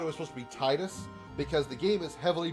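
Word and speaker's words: Tidus: this is how it titus is correct t i usually any letter that that any i that follows a single letter at the beginning of a name is always pronounced with a hard e sound like titus tifa so it makes sense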